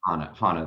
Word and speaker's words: Hannah: And I've lost, Hannah. Hannah, okay. Zach, can I take Hannah?